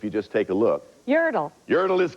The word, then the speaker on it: Yertle: 1, I'm the name of the turtle in the 58 book whose name rhymes with turtle if you just take a look. Yertle.